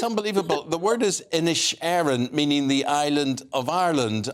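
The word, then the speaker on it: Inisherin: I heard you were gonna ask me to pronounce it and yes I did think it was the Banshee of Ed Sheeran um not insurance so uh and you can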